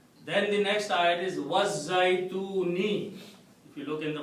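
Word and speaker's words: الزيتون: Okay, you don't pronounce because it's Az-Zaytun, but it's actually Al-Zaytun.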